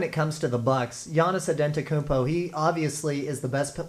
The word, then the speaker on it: Giannis Antetokounmpo: And what does Giannis Antetokounmpo have to do? I'm glad I got that pronunciation right.